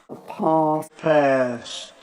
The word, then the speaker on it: path: vowel sound here, ah, but Americans will tend to use a more front vowel sound.